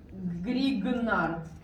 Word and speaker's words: Grignard: Then it would be Grignard. I wrote that correctly. I googled that because it is not written how you say it usually.